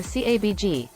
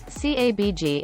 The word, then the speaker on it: CABG: surgery bypass surgery or cabg the acronym is pronounced the same as cabbage cabg involves using a blood